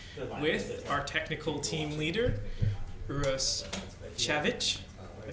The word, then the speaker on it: Uros Cavic: Yeah, my name is Uros Cavic. That's the proper way to pronounce it.